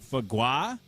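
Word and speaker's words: foie gras: Uh the text line says that it's pronounced fagua and it's French.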